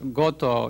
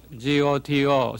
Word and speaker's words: Goto: to be invited back my family name is gato is spelled G OTO so I always ask you to remember me by go to someplace I think you know where I'm going to or I also have